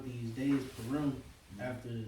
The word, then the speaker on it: Purim: Purim. Purim.